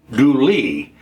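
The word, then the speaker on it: Dula: County, North Carolina by a man named Tom Doula whose name was actually pronounced Douly.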